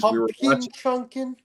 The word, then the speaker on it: Chunkin: year for six years chunkin so it's it's it's it's spelled like it's slang so it's pumpkin chunin so what do you